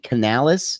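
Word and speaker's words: Canales: that side of the ball but uh Dave Canalis is that how you properly pronounce it yes uh he'll be the new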